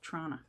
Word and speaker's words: Toronto: where that is but if you want to sound like you're from there if you ever visit just call it trauna there's only one tea at the beginning in toronto instead of toronto yep